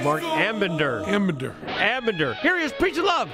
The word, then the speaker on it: Ambinder: So scary that I mispronounced his name even though he's called Marc Ambinder. Ambinder.